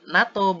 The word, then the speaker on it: NATO: unbox kan Eh tapi singkatan ini bisa dibacanya dengan Tara akronim jadi disebut NATO bukan natok24 hasilkan bunyi konsonan bukan bunyi vokal maka Kata yang sesuai